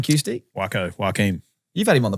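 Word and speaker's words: Joaquín: Joaquim.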